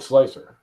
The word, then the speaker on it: Slic3r: and I have submission how do you pronounce egos slicer keep slicer it's pronounced slicer that's like I mean